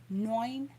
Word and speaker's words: neun: to remind myself that it's N-E-U, nine, nine, because if you say like 9, it's going to sound like you're saying no. So I have to remind myself to pronounce my 9 like nine.